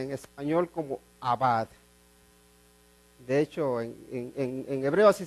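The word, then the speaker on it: עבד: Y hay una palabra en hebreo que se pronuncia en español como abad. De hecho, en hebreo así se pronuncia, abad.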